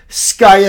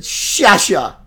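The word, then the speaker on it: Sciascia: I didn't know how to pronounce her name. S-C-I-A, S-C-I-A. Skya, Skya, Skia, Skia. And one night she phonetically spells it and it said Shasha.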